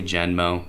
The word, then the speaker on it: Genmo: this one is called I don't know if it's pronounced genmo probably genmo based on the spelling g n m o you can find these guys at genm mo.